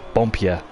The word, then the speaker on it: Boompje: How do you say third place name again, mate? It's just Boompje. Bompje.